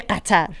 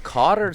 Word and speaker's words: Qatar: Well, if the locals say Qatar, like they really accentuate the Qa. Anyway, Cotter sounds like a Fox News host saying it.